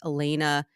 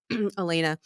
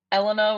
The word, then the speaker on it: Elana: ask you Elena how what kind of mispronunciations of your first name do you get a lot Eleanor was like all the subs that was that was a big one um Alana Alana too but like it's two